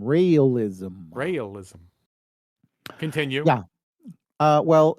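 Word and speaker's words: Raëlism: the key word here it is known as realism rism like you it has nothing to do with me no this is really a wacky religion it's spelled it's spell r a e l i s m realism realism continue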